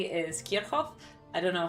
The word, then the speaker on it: Kirchhoff: law, fundamentally, Kirchhoff's law is just an application of it.